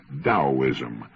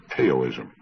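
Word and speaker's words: Taoism: I found his discussion of the Chinese Daoism of particular interest. That's spelled T A O I Sm and often mispronounced Teaoism.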